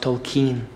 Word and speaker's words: Tolkien: Également, il intègre des suggestions de scénarios pour rejouer des batailles issues des livres de Tolkien, It's pronounced Tolkien.